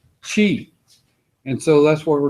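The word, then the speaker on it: qi: I sometimes it's written as c-h-i but it's pronounced Chi and so that's what we're trying to do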